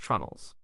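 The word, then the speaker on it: treenail: Instead of iron rivets, carvel builders often used wooden pegs called tree nails, sometimes pronounced trunnels.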